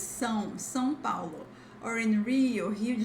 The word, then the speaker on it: São Paulo: However, if you are in São Paulo or Rio, it's not São Paulo, okay, guys? It's São Paulo.